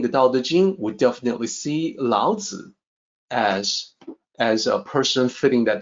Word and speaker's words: Laozi: Laozi is the correct pronunciation, and it's written in a couple of different ways in accordance with the romanization system.